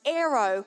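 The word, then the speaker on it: αἴρω: And it is very closely related to another Greek word, which is pronounced aero, which means to lift up, take away, and remove. And Strong says it's comparable to this word aero.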